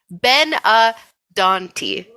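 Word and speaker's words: benandanti: on D doni um they I put the pronunciation in the document Ben Ben a dony there you go um they pop up but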